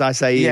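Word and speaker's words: açaí: Yeah, it's like high, but it's acai because you've been around it enough.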